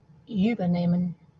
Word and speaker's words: übernehmen: Look at the dash under the E. The emphasis is on the second part. And the other clue you have is actually the H after the E, which just elongates the previous vowel.